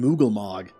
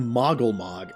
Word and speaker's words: Moggle Mog: thought he mispronounced it the name is not good king moogle mog it's good king moggle mog i never noticed that